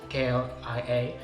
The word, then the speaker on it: KLIA: By the way, the airport is, for the locals, usually known as KLIA, which I will now pronounce Klia because I don't want to break my tongue.